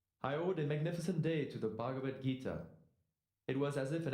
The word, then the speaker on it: Bhagavad Gita: great authors with the bava gagikita i'm sorry i know i'm not pronouncing that that name right your attempt at pronouncing the sanskrit language was noble it's bhagavad gita why don't you try